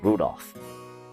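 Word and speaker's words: Rudolf: just this anyway this guy's name is pronounced Rudolph he must hate grandfather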